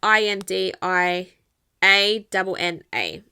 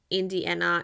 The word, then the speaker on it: Indiana: Um, and it's I N D I A N A. So, it's not Indiana, it's we we pronounce it in Spanish, Indiana.